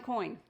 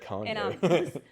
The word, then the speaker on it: Coyne: Wayne Coyne. I never know how to say his last name. Well, we had been mispronouncing it for quite a while. Well, you don't want to say it Kanye. And that's how you told me to say it.